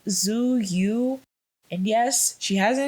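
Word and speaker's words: Tzuyu: The one I don't know if I'm pronouncing her name right, but it's Zuyu. I think her name is pronounced Choyu, Zuyu.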